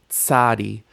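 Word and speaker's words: צדי: New consonant, tsadi. Tsadi. Tsadi makes a ts sound like in pizza.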